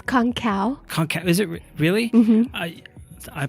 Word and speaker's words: Kongkaw: conga do I say that right now it's konkow is it really mm-hmm I pulled it I've only only seen it but yeah so konkow mm-hmm or if you really want to like